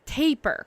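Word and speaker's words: tapir: as taper be taper it's taper like tapering okay taper um okay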